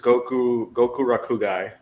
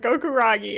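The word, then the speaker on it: Gokurakugai: The manga, it was Goku Rakugai. I was close. I was close. I said Gokuragi. I missed one syllable.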